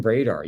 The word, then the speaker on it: Bredar: Caton Bredar.